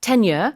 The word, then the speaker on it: tenure: tenure의 발음이 10년과 비슷하기 때문에 주의하셔서 발음 연습하시면 좋을 것 같아요.